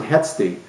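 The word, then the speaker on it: h₁edti: So it becomes hetsti. So you pronounce it hetsti, but if you see it written down, you'll see it written down H-1-E-D-T-I.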